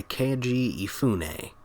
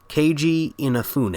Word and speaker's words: Keiji Inafune: game was made by kg phu nay sorry no i'm probably mispronouncing this let me try again keiji inafune a thinks about the best i'm gonna do or as he's